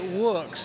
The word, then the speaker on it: Woox: You know, you can say it any way you like. We say it Woox. It's like Woox. Wood, but with an X.